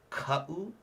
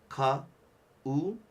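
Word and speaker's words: kaʻu: The word is ka'u. Okay, again, ka'u. Okay, so that's really important. And then sometimes you'll notice it comes at the beginning of words here. Like right here. This is oe. Okay, so again, you hear I'm kind of putting that extra emphasis on the beginning.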